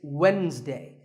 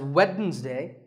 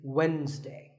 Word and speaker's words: Wednesday: of the week it's Wednesday the D is silent sometimes it's pronounced as weddings day but the proper way to say it is Wednesday what about this word